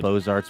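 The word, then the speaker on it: Beaux Arts: Good old Bozarts Village. We love it over there. Yes. Love that you get to say that cuz I can never remember which letters are pronounced. Bose.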